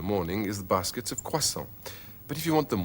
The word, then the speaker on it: croissants: But the S isn't pronounced. So it's un croissant, 6 croissants. Un panaché, 2 panachés.